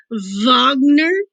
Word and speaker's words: Wagner: how it's pronounced that the w is pronounced as a v wagner brahms and schumann wagner